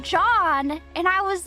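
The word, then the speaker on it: Zhang: I in my head I was I was pronouncing it as Zang.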